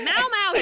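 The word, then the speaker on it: Mao Mao: BUT I DON'T IT'S MAU, you idiot. It's Mow, you goddamn coward.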